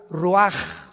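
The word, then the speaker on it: רוּחַ: Roach así como suena se pronuncia la c en hebreo como J ruaj se le só y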